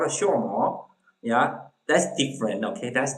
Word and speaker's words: Xuemo: also some people say rumor, yeah, and the X, that's not the pronounce in English, okay, sure, okay, we say that sure more, okay, X, okay, so that's a little different.